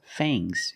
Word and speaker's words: fangs: teeth are called fangs use a long a plus the nasal sound M and a soft G fangs fangs and the S is making a zebra sound Z but it's soft fangs fangs the snake has